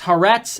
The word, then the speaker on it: Haaretz: care people are going to be actually it's pronounced this way it's harrett's and it's the forward two israeli media companies